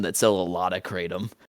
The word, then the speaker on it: kratom: I always thought it was pronounced kratom or kratom or whatever. Nah, kratom.